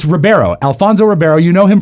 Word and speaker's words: Alfonso Ribeiro: right all right bad news for Alfonso Ribeiro Rivera right no it's Ribeiro or IB what he I am can't be pronounced with bad news is the dude has to say your name no it's Ribeiro Alfonso Ribeiro you know him from The Fresh